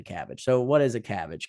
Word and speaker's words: CABG: So CABG, CABG is, I don't think you actually would pronounce it cabbage, but everybody calls it a cabbage.